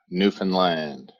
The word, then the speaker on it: Newfoundland: to pronounce it properly so it's understand newfoundland you get the alliteration in the flow so work with that